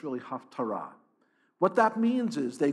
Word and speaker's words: haftarah: that reading is called the haftarah reading sometimes pronounced taftora but it's really haftarah what that means is they look at the